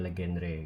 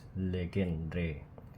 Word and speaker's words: Legendre: and partial derivatif jinya legendre gitu not pronounce Legend it's legendre tadi ada tapi Legendary